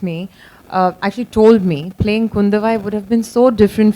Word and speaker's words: Kundavai: So obviously you're playing Princess Kundavi. I hope I got the pronunciation right. Kundavai.